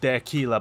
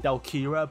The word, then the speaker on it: Delkira: Ali cred is literally their killer backwards and yes I know I've been saying delkira but it has been pronounced as their killer throughout the anime just because of how the Japanese language works so Ali kreb backwards